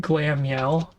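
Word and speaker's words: Glameow: So this is called Glammeow. It's pronounced with two M's, but spelled with one.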